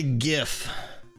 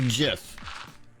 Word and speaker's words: GIF: smart guy yeah like my brain wants to say jiff it absolutely wants to say jiff but i've decided that gif is the right way to say because that's what it should be but it's probably one